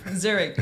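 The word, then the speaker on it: Zürich: the best universities did I say it right Zurich yeah that's where I was born Zurich Zurich is not the capital it's burn but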